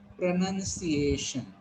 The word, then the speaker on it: pronunciation: It is not noun, it is nunciation. So you will pronounce it pronunciation.